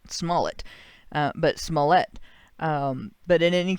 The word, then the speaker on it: Smollett: you look at and I've been told I'm mispronouncing his name. It's Jussie Smollett, not Smollett, but Smollett.